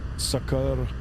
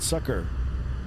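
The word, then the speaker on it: Sukkur: I'm trying not to mispronounce it here, but Sukur. Here in North America, you'd probably call it sucker.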